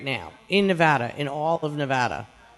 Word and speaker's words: Nevada: Am I saying Nevada right, by the way? Is it Nevada? Nevada. Which one? We're saying it right? Nevada. Okay, got it. Nevada. Got it. It's like bagel, Nevada. It's Nevada, right?